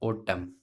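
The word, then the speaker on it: autumn: जैसे ये देखिएगा, एम के बाद एन आ रहा है, यहाँ पे एन साइलेंट रहेगा, ये क्या हो जाएगा, ओटम। ओ, ये टे, ये ओटम हो जाएगा।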